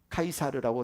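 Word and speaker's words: Caesar: 로마 황제 당시 황제를 시저라고 하죠. 우리 개혁 계정 성경에서 가이사라고 부르는데 영어 발음은 시저입니다. 카이사르라고 다 하죠.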